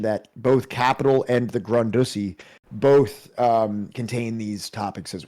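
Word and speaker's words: Grundrisse: So, Marx's 1857 to 58 Grundussy, Grundussy. It's pronounced Grundussy.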